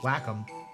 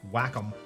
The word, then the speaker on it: Wacom: I still can't believe that is the correct way to pronounce their name, but it is Wacom. That is how you're supposed to say it. Wacom.